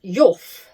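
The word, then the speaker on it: Heugh: we went in the spelled h e u g h pronounced yof there's a Yu pier and there's a Yu battery which is I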